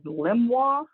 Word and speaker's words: LiMWA: have what's called a limit of moderate wave action which is indicated on here as limwa is how that's pronounced um basically what they've